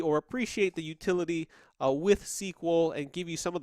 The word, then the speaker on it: SQL: sequel sequel is actually a acronym that is pronounced sequel but it's actually stands for the structured query language SQL but in in in current day time you